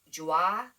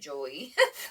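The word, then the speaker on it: Joie: it's cropped but it's joi is how you pronounce it it's j-o-i-e i always called it joey but i guess it's pronounced like joi and i kind of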